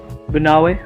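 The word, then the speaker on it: Banaue: Banawe, pronounced as Ba-na-we.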